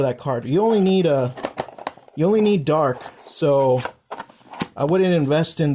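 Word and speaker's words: Dharc: could probably just buy dark, because that's all you need is 2 dark, and that's it. 2 dark Link monsters. His name is Dark. It's spelled D-H-A-R-C. For those who want to look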